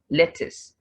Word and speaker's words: lettuce: so here here butter then lettuce the u in this word has the a sound lettuce water now you could hear